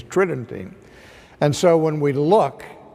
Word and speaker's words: tridentine: It sounds like it would be pronounced tridentine, but the normal pronunciation is tridentine.